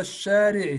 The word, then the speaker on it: الشارع: في هذا الشارع. try to not say ال ال is silent. لام شمسية.